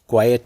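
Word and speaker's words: quiet: यहाँ पे उच्चारण पे ध्यान दीजिएगा, इसको क्वाइट नहीं क्वाइट कहते हैं।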